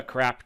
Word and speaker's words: CRAAP: out of the way, yes, the name is an acronym, but the pronunciation is intentional, as the goal of this test is to help you determine what sources are CRAAP and which ones aren't.